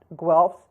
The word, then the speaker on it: Guelphs: The Guelphs and Ghibellines, in English it's pronounced Guelphs, Ghibellines, were factions supporting the Pope and the Holy Roman Emperor, respectively, in central and northern Italy.